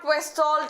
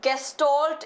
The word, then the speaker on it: gestalt: It is not questalt, it is gestalt.